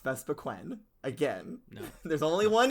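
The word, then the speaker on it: Vespiquen: no it does not second of all is pronounced vesa quen again there's only one e because she's she's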